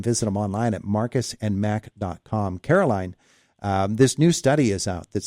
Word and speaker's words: Caroline: See, Caroline, I was so concentrated on making sure you were a Caroline and not a Carolyn that I mispronounced Susie.